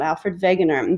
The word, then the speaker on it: Alfred Wegener: scientist his name is alfred wegener even though it's a w you pronounce it with a v sound alfred wegener before you meet him